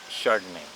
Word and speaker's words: Chardonnay: i have here the chardonnay so it's written on the label here in behringer founders reserve it's chardonnay so the ch you will pronounce it as letter s so it means chardonnay